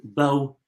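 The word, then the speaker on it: Beau: Bo.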